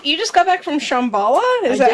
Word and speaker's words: Shambhala: oh crap so you just got back from Shambhala is that how you say it yeah okay